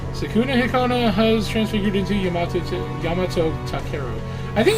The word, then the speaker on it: Yamato: Sakuna Hakona has transfigured into Yamato. Yamato Takero. I think it's Yamato and not Yamato, but I always want to say Yamano. I think Yamato is actually how you're supposed to say it